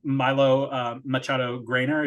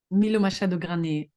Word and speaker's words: Milo Machado Graner: not also mention I believe his name is Milo Machado Grainer. Is that how you pronounce his name? Milo Machado Graner, I think. Okay, Milo Machado Graner.